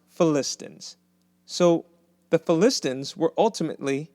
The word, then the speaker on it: Philistines: Not Philistines, it's pronounced Philistines.